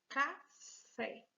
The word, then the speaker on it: café: última sílaba uma palavra café bem acentuada então já tá muito fácil já sei que essa aqui é a sílaba tônica café se a fé é a última sílaba é a sílaba tônica eu digo que essa palavra é classificada como uma palavra oxítona vamos agora que a